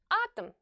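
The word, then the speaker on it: атом: the word atam atam the letter O is not stressed and it follows the stressed vowel here the vowel o it will therefore be pronounced like a very short a atum atum and before we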